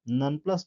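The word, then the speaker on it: nonplussed: नॉनप्लस्ड means होता है हैरान। ठीक है ना, नॉनप्लस्ड, इसको ट प्रोनाउंस करेंगे, नॉनप्लस्ड यानी हैरान, कंफ्यूज्ड।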